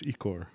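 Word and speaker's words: ichor: It's Icor.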